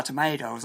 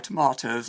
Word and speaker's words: tomatoes: An American might say, "I dropped all my tomatoes on the sidewalk," with the middle syllable of tomatoes pronounced mate. An Englishman would say, "I dropped my tomatoes on the pavement," with the middle of tomatoes pronounced mart.